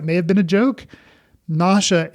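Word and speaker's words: Nasha: have been a joke NASA is actually said so it almost sounds like nauseous which I think I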